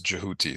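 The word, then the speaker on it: Djehuti: um but the but the original um pronunciation as jouti so I try to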